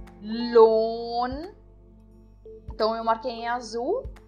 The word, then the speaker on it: Lohn: E eu não pronuncio o H também aqui nessa palavra, mas eu dou uma ênfase maior no O. Para isso que serve o H dentro das sílabas, né? Então eu digo loan. O H ele dá a ideia de prolongar o som de uma letra.